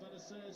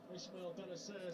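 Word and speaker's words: Bennacer: similar in surname, which I said Bentancur, but it's pronounced differently. Yeah. AC Milan have gone ahead against the Italian league leaders Napoli. Benacer scored. Ismail Benacer.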